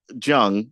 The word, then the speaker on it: Jung: Is that how is it pronounced Jung or Young? Jung.